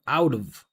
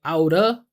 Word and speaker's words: out of: You can pronounce it two different ways. I tend to pronounce it differently depending on what sound comes after the reduction of. So really you can say outa, right? Outa would look something like this. Outa or out of.